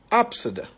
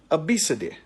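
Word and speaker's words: Abcde: a child's name and the child's name is pronounced Absa some other people pronounce it Abid let me give you another this is a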